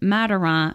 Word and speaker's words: Madiran: And if anybody's wondering, where is Mataron and what are we talking about? That is in France. Yes. And you spell it Madiran.